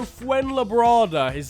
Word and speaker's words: Fuenlabrada: of that Spanish team I'm gonna go fuenlabrada is how you pronounce it winning on penalties over